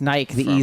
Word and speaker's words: Nike: he'd like Kanye but Nike is named after a Greek goddess right yeah a Greek goddess this actually pronounced Nikki I learned that from its Nike Silex the future it's